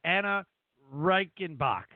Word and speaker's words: Anah Reichenbach: mess this up though because I can never pronounce the ANA Reichenbach you got it right oh my gosh I